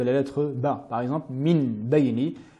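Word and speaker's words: مِنْ بَيْنِ: Par exemple, Min Bayni, nous prononcerons Mim Bayni, et en ajoutant ce nasillement particulier, donc avec un nasillement supplémentaire.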